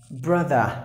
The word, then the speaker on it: brother: end in letter R you have to pronounce the letter s a silent like brother the letter or a silent here it is pronounced but